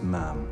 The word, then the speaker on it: ma'am: After that, it's ma'am. Rhymes with ham until you leave.